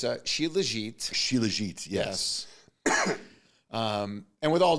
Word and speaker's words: Shilajit: So it's Shilajit.